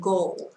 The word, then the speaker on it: goal: sau: target, aim, and goal. Từ này không đọc là goal nhé các bạn nhé. Âm này là âm ẩu, nhưng mà các bạn sẽ phải nâng lưỡi lên có chữ L ở cuối đúng không ạ?